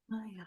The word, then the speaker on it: Mayya: Is Mayya how you say it? Yes, yeah, that's Mayya? correct. Mayya.